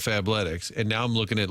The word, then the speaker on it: Fabletics: If you go Fable Ticks instead of Fabletics, and now I'm looking at Lululemon.